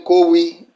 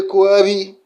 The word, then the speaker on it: Koabi: That thing you are calling Kowi, they teach you to pronounce it as Kowi. Say Kowi, and then they find one a fake meaning to tell you. It is actually Koabi, not Kowi.